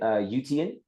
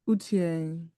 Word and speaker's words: Utiang: Yes, and then is it Utian? Did I pronounce that correctly? Yeah, it's Utiang.